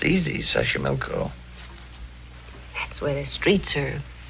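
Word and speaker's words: Xochimilco: taxo pbla sash sash sashco okay so you pronounce it better than I do it's easy Sashi milco that's where the streets are paved with flowers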